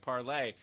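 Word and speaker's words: Parler: I did, by the way, when I did that video about parlor, there were a lot of people in the comments being like, but it's a French word. Wouldn't it be pronounced French like parlay?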